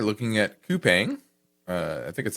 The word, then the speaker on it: Coupang: The company's name, I understand, is pronounced Coupang.